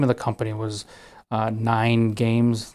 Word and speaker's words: NYGN Games: The name of the company was 9 Games. The name of the company is spelled NYGN Games.